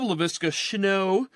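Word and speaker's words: Laviska Shenault: I love LaVisca Chenault, as it's pronounced, but he's not a huge threat.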